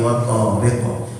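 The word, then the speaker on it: وَالطَّارِقِ: Contoh bacaannya at-tariq was-samaa'i wat-tariq was-samaa'i wat-tariq. At-tariq harusnya bacanya was-samaa'i wal-tariq, gitu kan? Nah, lamnya melebur ke huruf to karena huruf to-nya adalah huruf hijaiyah syamsiyah.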